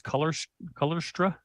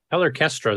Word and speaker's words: Colorchestra: Would you guys pronounce that as Colorstra? Colorchestra is what I always called it. Orchestra? Okay. Like orchestra, just with the O R chopped off.